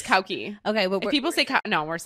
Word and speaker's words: Cauchi: And it's actually pronounced Cauchi, not Cauchi. I learned when I went to Malta. Yeah, went to Malta. Wait, are we supposed to say Cauchi? It's Cauchi.